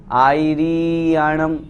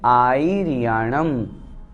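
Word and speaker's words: आयरियाणं: दूसरी गलती, इसमें री को बड़ी भी कर देते हैं, आईरियाणम इस तरह से कर देते हैं, वो अशुद्ध हो जाता है। इसलिए हमें बहुत अच्छी तरह से शुद्ध उच्चारण करना है, नमो आईरियाणम।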